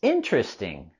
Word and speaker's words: interesting: And the word interesting, we can pronounce with just 3 syllables. Interesting.